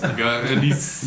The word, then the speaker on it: Gerdis: I hope I'm pronouncing that correctly. Yeah. Or is it Gerdis? Goodies. Gerdis. Yes. I can't roll my arse, but that's how it's pronounced.